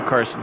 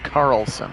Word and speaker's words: Carlson: your speakers checked i thought you were saying i said the first name wrong daniel carlson carlson i will make sure that i get that l in there for you buddy second and five now